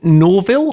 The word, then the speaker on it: Norville: because your your dad's name was it Norville have I pronounced that right yeah yeah yeah that that I thought